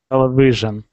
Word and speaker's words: television: not v but v television not vision but television television much better much better television television television and we say television tell is the number loudest syllable television yes it's just